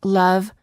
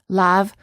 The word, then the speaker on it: love: It's the neutral sound as in love, other, and Monday, which non-native speakers frequently mispronounce as lav, other, and Monday.